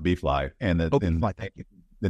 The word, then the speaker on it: BFLI: it's a unique value proposition right so it's pronounced bfly and thank you the name behind that is